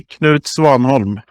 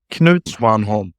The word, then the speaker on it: Knut Svanholm: But the correct pronunciation would be Knut Svanholm. Okay, let's get that one more time. Knut Svanholm.